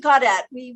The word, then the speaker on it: Gaudet: And there are a lot of we pronounce it Gaudet. OK, name but there are a lot of Gaudets in Louisiana. Yes. Because I see the ET and I say ay.